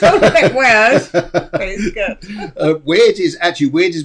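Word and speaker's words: wyrd: they lived away called the way of the weird but it's spelt w-y-r-d it wasn't spelled w-e-i-r-d not like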